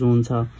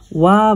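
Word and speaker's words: は: Japanese अक्षर हिरागानाको अनुसार यसको उच्चारण हा हुनु पर्ने भए तापनि पार्टिकलको रूपमा प्रयोग गर्दा यसलाई वा भनेर उच्चारण गर्नुपर्ने हुन्छ है। हामी लेख्न चाहिँ हा लेख्छौं तर यसलाई पार्टिकलको रूपमा प्रयोग गर्दा चाहिँ हामीले के भन्छौं त वा भनेर प्रोनाउन्सिएसन गर्छौं है।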